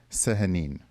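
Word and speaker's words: Sehanine: look like I do not how can I pronounce her name? Um, Sahanine.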